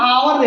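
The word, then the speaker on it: hour: से इंडिकेट करते हैं लेकिन यहां ह पढ़ा रहा है यहां अ पढ़ा रहा है तो उच्चारण देखेंगे यहां आवर दे रहा है और यहां हर्स दे रहा है ठीक है तो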